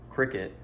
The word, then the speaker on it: CRKT: So first off, I'm gonna start with my hang on, I've already forgot, CRKT Cricket, I think is how you say it.